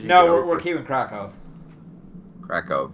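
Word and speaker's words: Kraków: no we're keeping kov krackov right sorry I forget the W's are like pronounced like V's yeah actually you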